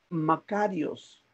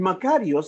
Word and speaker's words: makarios: palabra bienaventurado si es un término griego que se es que significa o que se pronuncia makarios iii makarios esta palabra makarios que